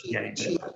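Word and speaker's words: Macìe: I think it's Macie. Perfetto. Pronunciation is perfect. Macie, excuse me.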